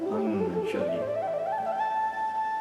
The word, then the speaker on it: Anjali: Anjali. A pronúncia é um pouco diferente do que a gente esperaria.